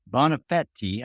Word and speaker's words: Bonafede: today we are gonna learn my guest Julia bonafetti I love that last name and yes Cree did tell me how to pronounce it is the co-founder of Rosetta analytics